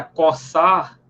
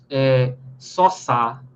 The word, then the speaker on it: coçar: Pode ver, quando a gente pronuncia coçar, a gente não pronuncia só, soçar. Soçar. É coçar.